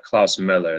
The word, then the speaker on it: Klaus Moller: hello my age oh so it's uh it's pronounced Klaus Miller the lumo makes the oh I have a